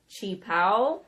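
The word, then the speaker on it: qipao: And it is Qi Pao, which means a traditional Chinese dress.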